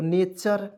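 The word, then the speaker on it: nature: टी यू आर ई को चर पढ़ते हैं, च र, तो नेचर।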